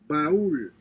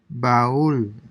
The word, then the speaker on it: baúl: baúl, Baul. So you have an accent over U. So basically, this A and U are pronounced separately. baúl, Baul, Raúl, Raúl, Raúl, Raúl, aupa, aupa.